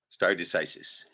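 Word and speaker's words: stare decisis: yeah anyway uh yeah start decisis and that's how it's pronounced too I even looked that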